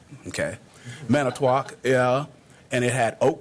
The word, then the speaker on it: Manitowoc: if I hope I'm pronouncing, because my Wisconsin pronunciation is not always on point, Manitowoc. Manitowoc. Okay. Manitowoc, yeah.